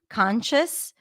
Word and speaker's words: conscious: pronounce the CH sound conscious I pronounce it with a CH sound so that's how I'm